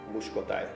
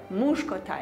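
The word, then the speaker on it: muskotály: Muskotai. Muskotai.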